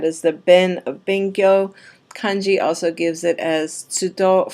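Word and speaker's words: 完: And then the right-hand side is actually pronounced kan.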